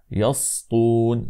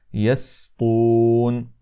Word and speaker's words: يسطون: هنا اخواني الكرام انه يجب ان ننتبه الى السين لانها تجاور الطاء فالبعض يقول هكذا يسطون يسطون فهذا لا يصح انما يجب ان ننطق السين مرققه هكذا يسطون الان نقرا قول الله